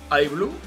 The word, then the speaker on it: iBlue: Y si además la pronunciamos en inglés, iBlue, como nosotros hacemos, nos sugiere directamente al universo de la inteligencia artificial.